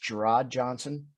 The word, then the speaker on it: Gerard Johnson: Now to the individual you just brought up, it's I believe it's pronounced Gerard Johnson. Or okay, it's like Jared with two D's in the middle of it.